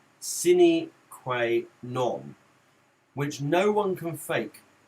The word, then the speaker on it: sine qua non: And so pronunciation is like this. Sine qua non. Sine qua non.